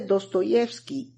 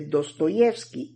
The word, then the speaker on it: Dostoyevski: En sus orígenes, el acento del apellido, como el del pueblo, recaía en la segunda sílaba, pero cambió su posición a la tercera en el siglo XIX.